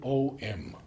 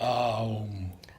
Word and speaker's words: Om: And Sri Aurobindo has written mostly O-M. Yes. Because that is the way it is like not that. Aum. No, Om. it is written A-U because this double vowel is pronounced O.